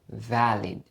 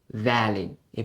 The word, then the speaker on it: valid: que fait ouais mot ça nous prononcer comme valid valid et pas valide mais c'est valid valid valid lc est-ce que permis